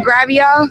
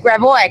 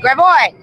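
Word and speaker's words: Gravois: Somebody said some protesters are getting we're on Gravio. Gravio. Y'all taught me how to say this. Gravoy. Gravoy.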